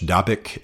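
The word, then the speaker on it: Dabiq: They have a very um high gloss, very contemporary magazine called Dabik. Um D- A B IQ is the way it's spelled in English. Dabic is the way it's uh pronounced in English.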